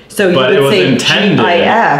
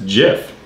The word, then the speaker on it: GIF: And it's GIF. It's pronounced with a hard G.